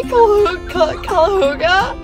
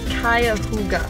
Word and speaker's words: Cuyahoga: are headed, so excited, we are headed to Cuyahoga. Okay, I always say Cuyahoga. It's not that. It's not either. Like, wait. How do you say it? It's called Cuyahoga.